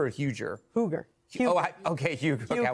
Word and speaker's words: Huger: It's been pronounced right? It's been both ways. And is it Karen Hugger or Huger? Huger.